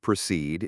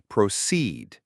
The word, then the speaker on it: proceed: The pronunciation of proceed is also worth noting. The stress is on the second part of the word, proceed.